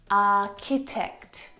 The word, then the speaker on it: architect: The CH sound in this word is a K sound, like in cat. Architecture. Architect, architect.